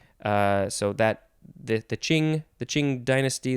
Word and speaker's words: Qing: so that the the ching the qing dynasty this qing word is from their word which i assume is pronounced very similarly uh i know i